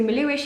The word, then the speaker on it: Melhuish: about my surname where it's from how it's pronounced that kind of thing so Malou ich it used to be a small hamlet in